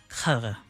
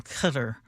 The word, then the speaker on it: Qatar: It's more guttural, Qatar.